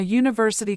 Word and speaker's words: university: is not specific and that one thing must start with a consonant or the letter is pronounced like a consonant conso what consonants these